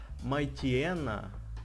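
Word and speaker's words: Mightyena: Но если читать по-английски, это читается Майтиэна.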